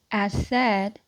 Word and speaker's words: Assad: So, Audrey, um, Audrey, Asadi, as, as, as the, trying my best to pronounce that person's last name. So it's Audrey Assad.